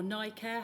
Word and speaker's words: NICare: And you say that that's called NI Care or NICare? How do we pronounce that?